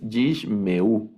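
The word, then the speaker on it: ישמעו: Por ejemplo, en esta palabra, leemos Yi, la primera sílaba se lee Yi, la segunda sílaba, este Sheva es silente, entonces solo suena la consonante, que es Yish, Yish, y luego la siguiente sílaba tiene un Sheva también, pero aquí sí lo vamos a leer, entonces Yishmeu, Yishmeu.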